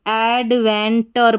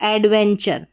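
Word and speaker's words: adventure: अब इसको अगर आप गलत पढ़ेंगे तो एडवेंटर पढ़ देंगे। क्या पढ़ देंगे? एडवेंटर। तो इस कोड की पहचान होने से आपने पढ़ा कि इस टी यू आर ई का उच्चारण यानी इसको हम चर पढ़ेंगे।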